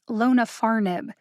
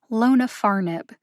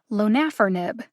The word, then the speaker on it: lonafarnib: name for zokinvi is lona farnib it has four syllables lonafarnib the first syllable lo gets the secondary emphasis the third syllable far gets the primary emphasis when i first looked